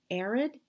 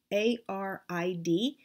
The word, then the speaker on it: arid: And that is a wall hanging called an arid. A-R-I-D, and I think I'm pronouncing it right. I'm pronouncing it the same way you would talk about like a desert being arid, dry.